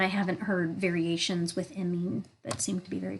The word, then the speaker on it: imine: I'm not great at kind of spelling things phonetically, but if you could think of like mean, that's kind of how it's pronounced. I have seen some people pronounce it imine, but those are not chemists that I've heard pronounce it that way.